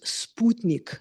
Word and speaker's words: Sputnik: And the first thing I said was it's Sputnik.